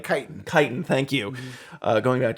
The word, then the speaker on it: chitin: horn into making armor as well or uh chitlin and other like chitin thank you uh going back to pronouncing things correctly uh but one of the